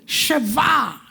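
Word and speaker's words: שבע: Sheva.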